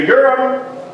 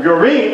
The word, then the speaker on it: Urim: And thou shalt put in the breastplate of the judgment the Urim, or the Urim is the way it's actually pronounced, and the Thummim.